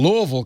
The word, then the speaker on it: Louisville: Paul's on the line from Louisville. I said it right, Paul? Louisville, Kentucky. Well, actually, it's Louisville. But, you like Louisville? Okay. Because we were named after King Louis VI.